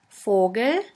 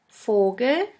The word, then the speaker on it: Vogel: V is pronounced like the F in the word for. In German we have the word Vogel, Vogel, which means bird.